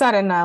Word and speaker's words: Arena: It's Arena, like sand Arena. in Spanish.